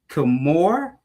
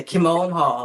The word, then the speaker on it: Kimone Hall: We got Kimore Kimone Hall. Did I say it right? Yeah, Kimone Hall. It's Simone with a K, so it's actually very easy.